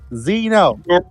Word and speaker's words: Xeno: it with a z Zeno wrong it's like xylophone from from what the